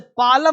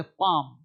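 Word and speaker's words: palm: के के पहले अब इसे पालम नहीं बोलते पाम पाम मतलब हथेली पाम काम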